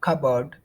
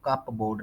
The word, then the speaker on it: cupboard: Fold तय लगाना, neatly नफासत से, और कबर्ड अलमारी। कबर्ड का ये यहाँ पर पी जो है वो डेड है, साइलेंट है, पी की आवाज नहीं देनी, इसको कप बोर्ड नहीं पढ़ना, कबर्ड।